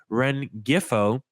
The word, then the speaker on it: Rengifo: being realistic, how about Luis I have trouble pronouncing his name. Rengifo, Luis Rengifo, I believe that's how you pronounce it, from the Los Angeles Angels.